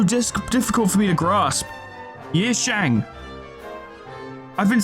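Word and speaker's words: Yi Sang: much like Shi Yang, I've been saying their name wrong so much. What? How is this so difficult for me to grasp? Yishang.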